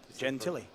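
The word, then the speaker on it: Jen Tilly: you are mentioning that gen Tilly sounds like Jennifer Tilly yeah I asked Michael how to pronounce his name and that's what he told me gen Tilly I could call Michael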